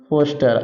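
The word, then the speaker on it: Forster: Conrad Conrad की playing and फोस्टर are silent हो जाएगा फोस्टर लिखिए इतना पाच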